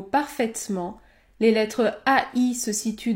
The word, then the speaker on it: parfaitement: faire faire parfaitement parfaitement ici je ne prononce pas la voyelle e dans le mot parfaitement les lettres ai se situent devant la consonne prononcée parfaitement parfaitement chaise chaise laine